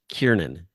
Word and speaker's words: Kiernan: But I believe his name is pronounced Kiernan.